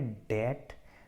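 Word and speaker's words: debt: है के दिन है डेट डेट असली रियल इसमें बीच साइलेंट है इसीलिए को डेट बोलते हैं जिन्हें फाइव नंबर पर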